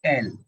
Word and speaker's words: El: are discussing uh the Spanish uh film uh L uh I I don't know if that's how it's pronounced by the is that how it is pronounced? Yes, it's L. L.